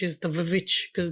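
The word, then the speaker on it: VVitch: So like the witch is not the witch is the vich cuz it's it's two v's to be more Yes.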